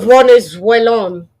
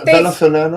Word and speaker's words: venezolano: Venezuelón. Sí, yeah, de ¿verdad? pronunciar No, es venezolano.